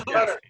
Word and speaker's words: Qatar: Or Qatar. Yeah, it's in one of those Middle Eastern countries. Qatar.